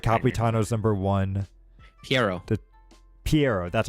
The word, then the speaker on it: Pierro: and you're right Capitano is number one Pi Pierro that's how you say it okay yeah he's